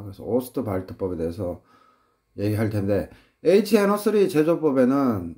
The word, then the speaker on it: Ostwald: 독일어 쪽에서는 D가 T 발음 납니다. 그래서 오스트발트법에 대해서 얘기할 텐데 HNO3 제조법에는 이것도 사지선다로 낼 수 있죠.